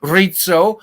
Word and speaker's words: Rizzo: It's Rizzo, like you order a pizza.